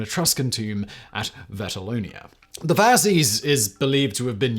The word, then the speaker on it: fasces: gain the same notoriety as the other prominent fascist symbol, the swastika? The fasces, or more correctly pronounced Fascist, means bundle in Latin and is